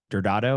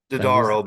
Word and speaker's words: Dodaro: And that was when, man, Carmen Dordado, am I pronouncing Carmen's last name right? Dodaro, but Dodaro.